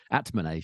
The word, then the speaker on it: Atmane: The first round might be tricky against Altmane. I don't know how you pronounce that, actually. Atmane, sorry.